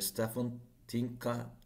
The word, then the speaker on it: Stefan Tınca: of the Romanian embassy, Mr. Stefan Tınca, if I'm right in Yes, perfect. pronunciation.